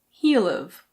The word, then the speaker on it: he'll've: He will have can be said as he'll've. He'll've.